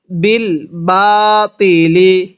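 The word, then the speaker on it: بالباطل: বিল বাতিলি। এই তকে ত করে উচ্চারণ করতে হবে। যদি তকে শক্ত করে তা উচ্চারণ করি তাহলে পড়াটা সহিশুদ্ধ হবে না।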